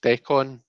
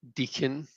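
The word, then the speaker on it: decan: The con is more like con artist. So do you mean like it should be pronounced decon? I used to say deacon until a snooty astrologer in Oxford corrected me.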